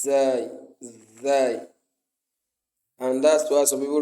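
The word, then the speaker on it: زاي: It should not be pronounced as sin or that. No, it's zai, and that's why some people recite the Quran saying a'udhu, a'udhu.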